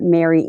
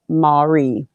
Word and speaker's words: Mary: for two months uh mary m five dollar super chat not trying to be a pain but it's pronounced marie okay got it thank